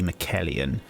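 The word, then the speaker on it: Miquellan: I'm just trying to work out how to exactly pronounce that. Mikkela, so probably Mikkelian.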